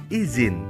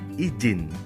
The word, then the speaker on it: izin: cara mengucapkan bunyi bahasa contoh kata izin diucapkan izin bukan izin yang kedua intonasi intonasi